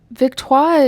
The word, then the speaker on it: Victoire: or the Viktoir. I am glad they didn't say it how the announcers do. The Vtoar. That's another one that I'm like, Victto is how it should be pronounced.